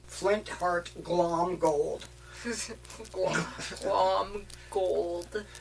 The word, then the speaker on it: Glomgold: It's Flintheart Glomgold. Glom gold. No, you have to put the Mick in there. It's just not written. It's Flintheart pronounced. Glomgold. It's pronounced, but not written.